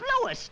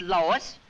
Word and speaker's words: Louis: the plant Lois Lois me name is leis not Lois J W everybody in topat me name wrong it's Lis l o u i s Lois uh Louise Lucy